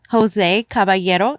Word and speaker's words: Jose Caballero: I am here with a very special guest, Jose Caballero. Am I saying it right? Yes, that's right. Okay, that's the Spanish way of saying it.